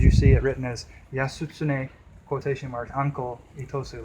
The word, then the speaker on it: Yasutsune: So in Japanese it would be Yasutsune. And then in the more Chinese pronunciation or Okinawan language pronunciation would be Uncle.